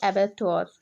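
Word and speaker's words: abattoir: आज का हमारा पहला वर्ड देखिए, यहाँ पे आज का पहला वर्ड है एबैक्टोर। ठीक है, यहाँ पे जो आर का प्रोनाउंसिएशन है बहुत कम होता है। ठीक है, इसे हम बोलेंगे एबैक्टोर।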